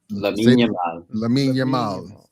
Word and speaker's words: Lamine Yamal: Lamine Yamal.